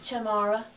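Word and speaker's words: chamarra: So we need cha with the ch. Cha, ma, ra. Chamara.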